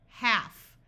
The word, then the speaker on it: half: most important exceptions h half notice the L is silent in this word c AF calf a